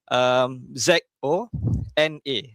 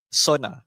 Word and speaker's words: zona: So Z ni jadi macam S sahaja. Okey. So contoh Z O N A Z O N A dia jadi sona. Okey. Sona dia bukan zona. Bukan zona tapi sona.